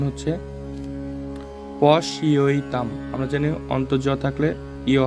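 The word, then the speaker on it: পশ্যতাম্: একটু উচ্চারণ গুলো দেখি প্রথম শব্দের উচ্চারণ হচ্ছে পশইতাম আমরা জানি অন্তর্জ থাকলে ইয় হয় এজন্য আমরা এখানে উচ্চারণ করব পশইতাম পান্ডু পুত্রানাম এখানে আবার আকার আছে বা আ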